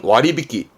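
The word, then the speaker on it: 割引: 이게 있을걸요 그렇죠 이거는네 할인 발음은 와리비끼 와리비끼 하리는 와리비끼 할증은 와리마시 뭐 예를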